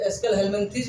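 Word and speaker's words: Aschelminthes: बेटा प्रोनाउंसिएशन आप लोग कुछ भी कह सकते हैं, इसको एस्केलहेल्मिन्थीज भी कह सकते हैं, लेकिन प्रोनाउंसिएशन में यहाँ कोई ज़्यादा तवज्जो नहीं दी जाती है। केवल इसको हम लोग कह सकते हो, कुछ लोग एस्केलहेल्मिन्थीज कहते हैं, कुछ लोग हम लोग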